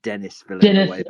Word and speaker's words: Denis Villeneuve: But I'm kidding. It's Dennis. I think you'll find it's Dennis Villeneuve.